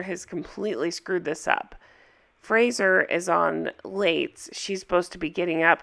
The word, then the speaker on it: Fraser: handle this for how i say it wrong it's not frasier it's fraser i know uh how